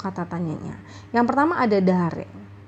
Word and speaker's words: だれ: Yang pertama ada dare. Ya, ini dibacanya dare.